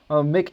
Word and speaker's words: Mick: It's pronounced Mick, M-I-C-K.